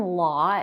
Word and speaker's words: law: education the vowel in law is the same as the vowel in the word caught as in the past tense of catch you need to pull